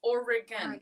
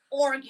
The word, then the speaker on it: Oregon: e in there yeah it's three syllables Oregon not Oregon I think you'd have